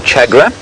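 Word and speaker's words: tchagra: I'll play you the call of the chagra. Chagra is spelt T-C-H. No, it's not. Yes, it is.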